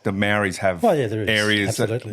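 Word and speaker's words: Māori: Maori. How do you pronounce that again? Maori.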